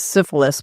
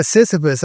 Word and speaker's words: Sisyphus: I said the wrong word. I was doing a sexually transmitted disease, syphilis, but it is correct to pronounce what? Yeah, Sisyphus.